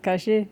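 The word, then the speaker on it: Caché: Is it Kashi? Yeah, you you got to tell me how to say it. You have to tell me how to say it, bro. This Yeah, Kashi is unreal.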